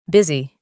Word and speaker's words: busy: Y para terminar con nuestra tabla, la U como una I. Sustituyamos, nos quedaría busy.